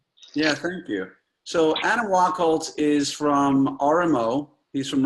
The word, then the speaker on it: Wachholz: Adam, is it pronounced Wachholz? It is, very, very good. Yeah, thank you. So Adam Wachholz is from RMO.